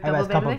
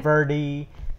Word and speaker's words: Campoverde: You're like the very few people that say my name in Spanish. I know you're Spanish, so that's what you say in Spanish. But the Campoverde? Campoverde.